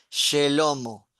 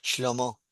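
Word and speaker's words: שלמה: regla de la gramática, la lleva se pronunciaría Shelomo, pero en realidad no se pronuncia porque cuando vos hablas con los hebreos, el nombre de Salomón es Shlomo, Lomo.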